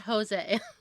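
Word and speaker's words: José: It's not Jose. I'm not just saying it wrong because I'm. White. Yeah. I get it. Yeah. Yeah. I In know. Spain, it's Jose in Spanish, but in Portuguese, it's Jose. They say the J because it's short for Joseph.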